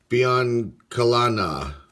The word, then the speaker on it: Biancalana: Winfield All-Star card, Ben Ogilvy, John Lowenstein, Buddy Biancalana, that's how you say his name.